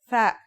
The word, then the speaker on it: ثاء: Our final letter is ثاء. That's like the TH in the English word thief.